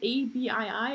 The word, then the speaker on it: ABii: So now bring me, as Van Robotics is growing and you guys have developed is it ABII or how do you pronounce it?